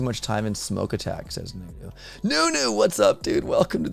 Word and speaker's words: Nuno: be a manager and yes his name is pronounced as nunu but this was a recurrent bug since